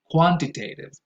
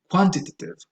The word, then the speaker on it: quantitative: So you say qualitative, quantitative. I think in British English you say quantitative, qualitative. That's fine, but still the stress, even if it's British English, goes on the first syllable.